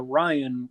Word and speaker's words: Ryan: Yeah, I am Ryan. This is not fucking Yeah, I was like, working oh, here. oh, Sorry, I am Ryan that starts with an R, not a B. Oh, yeah. Ryan and Brian.